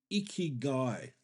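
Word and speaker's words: ikigai: One really good exercise for that is icky guy.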